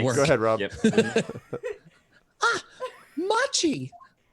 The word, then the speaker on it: Machi: Machi. Rhymes with mochi.